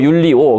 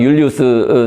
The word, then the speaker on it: 율리우스: 그니까 156년 아까 나왔던 교황 율리우스 또는 뭐 율리오 그래서 뭐 발음 따라서 다릅니다 이탈리어로 발음하니 영어로 발음하니 그래서 교황 율리우스 사세가 그 이제 이때